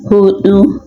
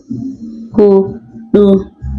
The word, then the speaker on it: huɗu: Well, for the spelling of four, we use the D that has curve, hudu, hudu, which is the right pronunciation.